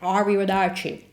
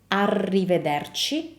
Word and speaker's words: arrivederci: was Brad Pitt, because he made the R sound the English way. So it sounds like arrivederci, by placing the tongue in the usual spot for English R. So remember, this is arrivederci, and we move the tongue more in the front to make this sound correctly.